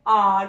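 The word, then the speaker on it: hour: और इसको बोला भी जाता है, ह से नहीं बोला जाता, आर बोला जाता है इसको, आर, नो कि एच की साउंड जो होती है इस वर्ड में साइलेंट रहती है।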